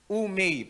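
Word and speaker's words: οὐ μή: Yun pong OU daw ang pronunciation niyan ay U. Tapos yung M na may E tapos may bar sa taas. May parang month of May yan ang bigkas. Umay parang gannon no.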